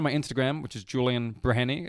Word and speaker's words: Breheny: if you find my Instagram which is Julian breny it's pronounced brany but spelled b r h n y uh